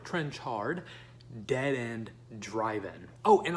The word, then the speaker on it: Trenchard: is Brian trenchard-smith scuzz I've mispronounced it before it's trench hard dead end driving oh